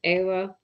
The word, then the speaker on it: Eva: Eva is her first name. And it's pronounced Ava.